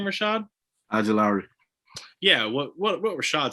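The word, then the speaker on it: Ojulari: had zavin collins at 20 we had aziz ajalru is how you say his last name rashad ajilari yeah what what rashad said um 21 the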